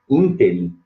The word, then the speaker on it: ínterim: Ínterim, eu falei inteirinho, né? Nesse ínterim, proparoxítona.